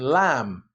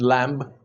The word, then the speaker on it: lamb: The B in bomb, climb, and lamb. Nobody says bomb, climb, and lamb.